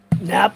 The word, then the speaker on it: Knapp: My last name is Knapp, so. Nap for taking a nap, or no? Yeah, that's what I was told people. It's spelled K-N-A-P-P, but yeah. Nap.